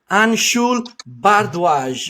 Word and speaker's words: Anshul Bhardway: straight from India, IFBB Pro Women's Physique competitor, Anshul Bhardway. Did I pronounce correctly?